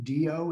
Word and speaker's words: Dio: kind of a funny pronunciation do is just D o do but it's spelled di o so just drop the I and it's do navi do is the